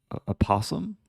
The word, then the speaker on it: opossum: Oh, the first O is silent, so just a possum, like a possum.